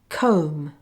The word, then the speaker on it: comb: Other words with silent B are comb, bomb, tomb, numb, dumb, thumb, crumb, limb, womb, climb, lamb.